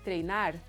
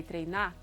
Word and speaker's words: treinar: So when you have a verb in their infinitive form, the last syllable is stressed and the R is silent. So you don't say dirigir, you say dirigir. You don't say treinar, you say treinar.